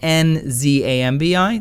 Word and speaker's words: Nzambi: It's N-D-Z-U-M-B-I, Nzumbi, meaning corpse, or the Congo language, where it's spelled N-Z-A-M-B-I, Nzambi, meaning spirit of a dead person.